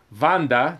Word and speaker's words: Vanda: that they are anyway vanda that's that's how you say her name vandas real ancestry was